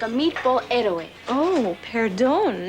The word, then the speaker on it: héroe: How do you pronounce it in Spanish, Mary? Héroe.